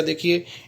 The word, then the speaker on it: the: दूसरा है दोस्तों डेफिनेट आर्टिकल दे, जिसका उच्चारण दी भी होता है दोस्तों और दे भी होता है। ज़्यादातर इसका उच्चारण हम दे करते हैं। जो संज्ञाएं वोवल से शुरू होती है तब इसका प्रयोग दी किया जाता है और बाकी सबके साथ दे किया जाता है।